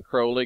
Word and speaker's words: Crowley: now, and his name, I know people say his name's really Crowley. Well, his name's really Crowley, but he wanted you to call him Crowley because it sounds more like holy.